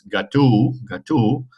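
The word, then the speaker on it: gâteau: perade in in and it's Gat Gat and that means cake it's not a cat so don't eat cats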